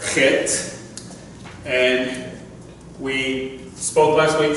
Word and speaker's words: Chet: Now, we spell it CH, but it is Chet. Okay? The reason why it's spelled with a CH is because over here you have a Kaf. Over here, you have a kuf, and they all have those same similar sounds, okay?